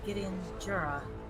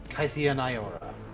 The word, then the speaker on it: Kytheon Iora: Yes, Gideon Jura. When my spark first ignited, that's exactly the mispronunciation of my name that people used for me. I am Kytheon Iora.